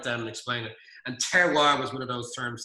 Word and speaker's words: terroir: That's what we call terroir. It's a French term. It's like terrier only, spelled with the O and the I are backwards.